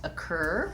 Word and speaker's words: occur: Occur also has second syllable stress, and so that letter O says the schwa sound. And I'll write the cur with a K-E-R. So it just has a tense American R in the second syllable.